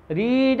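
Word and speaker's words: read: रीड का second form रीड ही होता है, थर्ड फॉर्म रीड ही होता है, लेकिन प्रोनाउंसिएशन उसका रेड हो जाता है।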